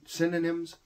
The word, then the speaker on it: synonym: help you out with cinnamon synonyms I almost made the most common mistake a lot of people mispronounce the word synonym as the spice cinnamon uh the one of